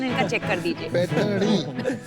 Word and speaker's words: पैठनी: स्लोनी, पैठनी, वो जरा प्रोनाउंसिएशन इनका चेक कर दीजिए। पैठनी। पैठनी।